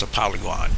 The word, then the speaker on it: Apollyon: Apollyon is pronounced Apollyon in Greek.